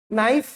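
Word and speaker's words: knife: जब भी KN साथ में लगा है मतलब क्या होगा, K साइलेंट। जैसे KNOW को नो नहीं पढ़ेंगे, क्या पढ़ेंगे, नो, ठीक है। नाइफ, नी, नॉक, ठीक है।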